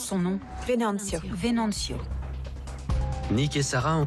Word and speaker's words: Venancio: Il est là, Comment on prononce son nom? Venancio.